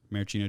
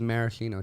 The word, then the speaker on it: maraschino: Maraschino cherries. I think that's right, actually. I thought it was maraschino cherries. I know, but I think I think the way that the common pronunciation is technically wrong.